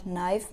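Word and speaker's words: knife: में ई साइलेंट है और नाइफ में के साइलेंट है राइट एन एसे अबाउट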